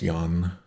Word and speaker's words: Yang: Like, if we were to write this out, it would be pronounced Yan.